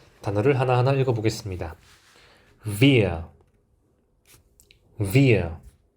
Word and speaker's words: wir: 이 W가 V 발음이 나게 됩니다. 그래서 이 W도 독일어 알파벳으로는 V라는 이름을 가지고 있습니다. 단어를 하나하나 읽어보겠습니다. Wir, wir.